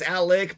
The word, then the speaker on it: Alex: It's spelled Alex, but it's Alec, but we're supposed to misspell our damn words because that's what we do.